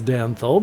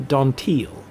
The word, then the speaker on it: Danthol: differently as we would the name Danthol I pronounce Danthol because I'm an English speaker but in the language of their people it would be closer to Dantiel and Connor is closer